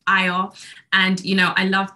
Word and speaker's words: Ayo: fact about my name it's a Nigerian name and it means Joy it's pronounced IO and you know I